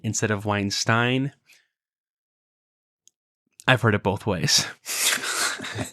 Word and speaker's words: Weinstein: Speaking of Psych, the TV show, one of our listeners has graciously pointed out that we have been pronouncing Brett Weinstein instead of Weinstein.